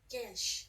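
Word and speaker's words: geis: A blessing to undo unfortunate gaish. I think it's gaish. I looked up the pronunciation. Hold on. Hold on. Gesh, Irish.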